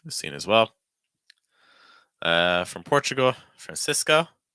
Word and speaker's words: Francisco: From Portugal, Francisco. Watch out for that cis sound. So it's not cis, it's more cis.